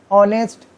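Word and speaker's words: honest: ऑनेस्ट, एन लग गया, ऑनेस्ट मैन, क्योंकि एच इज अ साइलेंट।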